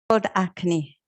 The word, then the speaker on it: Akhni: a rice dish and you're gonna have to pronounce it for me acne acne okay and then we're making we're making